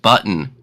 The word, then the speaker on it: baton: It's pronounced button.